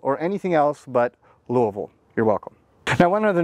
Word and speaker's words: Louisville: And by the way, if you're ever wondering, it's pronounced Louisville. It's not Louisville or anything else, but Louisville.